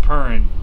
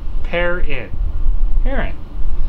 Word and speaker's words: Perrin: Jigglypuff, nah, it's not Purrin. John pronounces my name incorrectly. I'm sorry. Sound it out. Perrin.